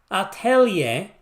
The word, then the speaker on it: Atelier: in favor of a it's pronounced aier that's a French pronunciation go to Google Translate if you don't believe me Atelier rise and that's atellier